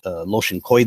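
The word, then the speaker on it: Lashon Kodesh: phrase last one Kadosh Ashkenazi communities with their more Yiddish pronunciations they wound up pronouncing it loschen coy - this is something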